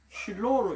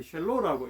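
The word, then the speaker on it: שילה: 아쉐르로 that to him 이런 어떤 구절인데 독특한 구절인데 아쉐르로란 말은 that 그걸 줄여서 쉘로 이렇게 이제 쉴로로 읽는 방법이 있고 쉘로로 읽는데 이 쉘로라고 읽는 것이 옳다고 그럽니다.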